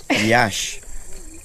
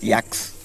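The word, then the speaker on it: Yaxha: at Yaka Yash not yaks yash because the x is sh so the h is pronounced the x is pronounced as sh uh-huh Shha.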